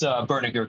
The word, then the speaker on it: Berninger: that's how you say your name, Berninger? It's Berninger, comrade.